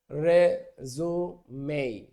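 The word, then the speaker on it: résumé: কিন্তু জীবন বৃত্তান্ত, সিভি, এইটা বোঝাতে আমেরিকানরা যে রিজিউম ব্যবহার করে, এটা উচ্চারণটা রিজিউম না, এটার উচ্চারণ হবে রেজুমেই।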